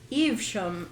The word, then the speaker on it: Evesham: Evesham.